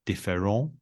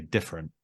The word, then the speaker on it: different: For example, they would say différent. Sorry, that's my bad French accent. The stress is towards the end, isn't it? And obviously it's a French-based word, but in English, we would say different.